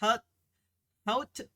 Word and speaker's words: haute: haute with a silent H. It's like haute couture.